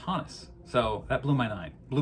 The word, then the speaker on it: Honus: And then I've started hearing more and more people, I think most people still pronounce it Honus, but then I looked it up on Baseball Reference, and it is apparently pronounced Honus.